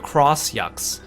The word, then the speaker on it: X Yux: Someone mentioned because the title entry for the X Yux or the Cross Yux says that the X is pronounced as cross.